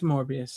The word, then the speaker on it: Morbius: Which I know you liked Morbius. I know you did. It rhymes with glorious.